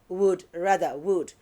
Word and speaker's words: would: Would. W-O-U-L-D, would rather. W-O-U-L-D is not would, it's a word. The L is silent, so it's a word.